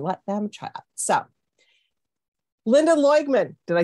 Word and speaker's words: Loigman: So Lynda Loigman, did I say it right?